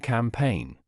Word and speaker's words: campaign: For instance, B is silent in plumber and climbing, GN in design and campaign.